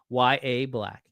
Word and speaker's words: Yaha: Yaha. YA. Why? It's how everybody in the whole world is saying it. So my guess is that somebody in Steelers media relations said his name is pronounced YA Black.